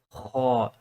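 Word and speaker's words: حاء: So my personal tips is that this is like a scratching sound. You're scratching the back of your throat to say ha. There's a difference between a gargling sound.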